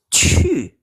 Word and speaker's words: 去: Untuk pinyin-nya itu pakai Ci ya. Jadi bukan bacanya Q lagi ini. Bacanya Ci ya. Terus ada U. Ada nada keempat. Cu.